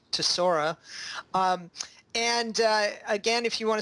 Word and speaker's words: Tesora: guests Amrith kumar from tesoro which i've been mispronouncing thank you for correcting me on that it is in fact to Sora and again if you